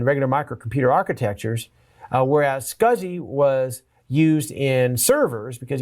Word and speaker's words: SCSI: jump down over here to scuzzy scuzzy SCSI pronounced scuzzy small computer system interface it's another an standard